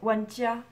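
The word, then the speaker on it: 玩家: joueur n'est ce pas comment ça se prononce ça ça se prononce want ya one djia voilà je le dis de la merde one we want you want you want ya à peu près c'est à peu près ça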